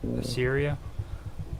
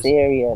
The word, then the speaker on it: Assyria: Assyria. Assyria. The Navy. Yeah. No. Syria. Not Syria. But as Syria, let me spell it.